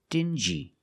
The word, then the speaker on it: dingy: These two words have the regular n sound, plus the j, like juice. Together, stin-g. Together, stingy. Or din-g. Together, dingy. This wall is very dingy.